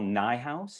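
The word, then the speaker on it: Nijhuis: a writer named michelle nye house it rhymes with my house this is a book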